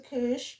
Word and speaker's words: couche: Se couche, because there's no accent on the last E. Couche.